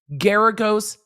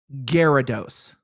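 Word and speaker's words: Geragos: bkz she's working with Mark garagos not Gyarados I forget that porn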